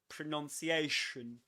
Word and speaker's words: pronunciation: And look at my teeth. I barely opened them. Shun, shun, shun.